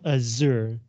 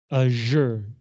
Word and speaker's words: azure: And another word is azure, 蔚蓝的, not azure, azure.